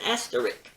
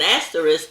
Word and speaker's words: asterisk: you to remember that not pronouncing asterisk with a risk at the end may cause you to be at risk with picky english teachers and pronouncing it as the rick may get you in trouble with guys named rick an asterisk is just